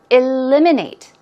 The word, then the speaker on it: eliminate: of all vocab words eliminates stress goes right there on the second syllable eliminate eliminate it means to